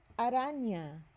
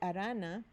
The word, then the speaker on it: araña: Am I just saying N? No, that would be arana. Araña. So what are we going to do here? We're going to add this accent mark called the tilde. It has an N-Y sound, like in the English word canyon.